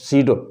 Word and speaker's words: pseudo: सीडो force यानी false force, यानी छिपा हुआ फोर्स, यानी छद्म फोर्स, छिपा हुआ phosphorus, सीडो, PSEUDO, सीडोफोर्स। सीडो spelling बेटा पी से शुरू होती है ना, तो सीडोफोर्स।